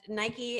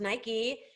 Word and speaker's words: Nike: that is nike uh nike is pronounced nike in some countries and nike in other countries i mean look they